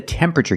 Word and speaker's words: temperature: This is the temperature gauge. Pronunciation, tempera. Not temperature, but temperature. The TU makes a ch sound like chicken. Temperature. Remember, it's 3 syllables. Temperature. Not temperature, not 4 syllables, but 3.